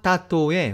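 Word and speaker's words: tātou: 그럼 여기서부터는 그 4개의 단어 마우와 마토 그리고 타우와 타토의 원어 발음으로 한번 들어보시겠습니다.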